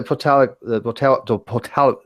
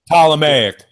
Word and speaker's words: Ptolemaic: Okay, so if this is a Potalic model, and the Earth is here. Ptolemaic. Ptolemaic. Yeah. Oh my God, I'm having a hard time today. Ptolemaic. There's no P. You don't pronounce the P.